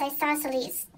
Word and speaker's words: isosceles: Kind of has that Z sound at the end that you couldn't tell with my other voice. So it's isosceles.